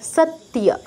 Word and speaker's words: সত্য: তয় হসন্তটা উচ্চারণ করব, দন্তস্বর পরে কোনো ই আনবো না। সৎ, তারপর ইয়, সত্যিয়া, সত্যিয়া।